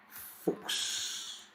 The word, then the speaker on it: Fuchs: When CH is before S, it is going to be pronounced as x, as in fuchs, fuchs, ducks, fuchs, fuchs, fuchs.